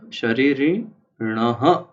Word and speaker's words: शरीरिणः: जैसे शरीरिण, फिर शरीरिण के बाद दो बिंदु है, तो इसे शरीरिणः इस तरह से उच्चारित किया जाता है।